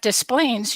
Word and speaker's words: Des Plaines: But Des Plaines, you do pronounce the S.